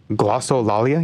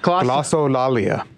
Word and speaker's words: Glossolalia: But yeah, you guys, have you ever heard of glossolalia?